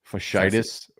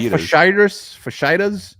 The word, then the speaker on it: fasciitis: undrafted free agent was it, who had plantar fasciitis? Fasciitis. Yeah, and I said, the way I pronounce that, I should not you didn't say fajitas, did you? I said like fasciitas.